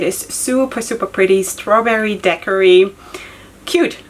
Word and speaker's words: daiquiri: know so apparently in in english you say daiquiri i don't know where that is coming from why would one pronounce it decorate anyway so this is the